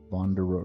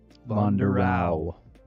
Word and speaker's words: Vonderau: The way it's pronounced, there's no e at the end of his name. It's just au bonderau.